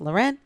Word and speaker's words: Lauren: a fancy so it's about like Lauren it's pronounced Lauren and I am team I got my own